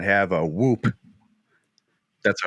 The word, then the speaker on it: Whoop: You don't pronounce the H? No, that's too. I feel like that's too on the nose.